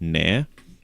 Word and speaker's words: Nair: It's spelled N A I R like that. Nare.